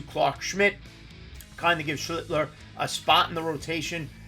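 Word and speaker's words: Schlittler: Up next from the New York Yankees, the rookie just got promoted, had his debut yesterday, Cam Schlitner, Schlitler, as I mispronounced it, rostered already in 21% of leagues.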